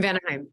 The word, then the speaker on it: Vanaheim: the one where your brother is in, In Vanaheim.